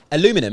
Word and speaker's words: aluminum: steel uh aluminium aluminium how do americans say it because we say aluminium they say aluminum in it that's it